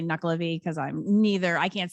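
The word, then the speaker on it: Nuckelavee: But if you go to a Scots English pronunciation, that would be the one. It says like knuckle. It's like the emphasis on the syllable is different. It's like NECKELAVEE.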